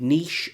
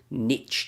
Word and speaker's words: niche: And it was also the advent of a lot of niche or niche channels, if you're American and you don't say it properly, reviewing things like technology or travel or just about anything.